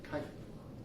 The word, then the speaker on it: chitin: Their shell is actually a polysaccharide called chitin. It's the CH is pronounced with like a K sound, so it's like chitin.